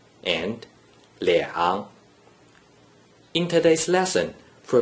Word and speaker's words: 两: When a single digit 2 is in the first green circle position without any other digits, it is pronounced 两, 两, 两 is the third tone.